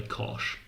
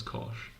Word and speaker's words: cosh: People say fan, people say shine, nobody says chos. Chos just never gets brought up. People all say kosh. We've all agreed to pronounce that one as kosh.